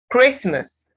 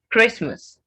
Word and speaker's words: Christmas: holiday not hollow day christmas the ta silence it's silent christmas digital even without the